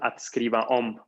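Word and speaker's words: skriva om: Notamos la diferencia porque tenemos una diferencia de acento. El partikelverb se pronuncia adscriba om. Adscriba om.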